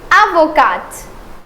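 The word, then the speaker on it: avocate: And not only the spelling will change in profession but the pronunciation will also change. So this one the first one is avoca and this one is avocat.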